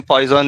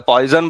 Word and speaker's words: Poisson: I believe the name Poisson is pronounced Poisson in French, but we are not French, so you can say Poisson bracket.